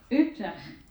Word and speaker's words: Utrecht: He's currently an assistant professor in the Department of Philosophy and Religious Studies at pronunciation of the university. Maybe you want to take it. Utrecht.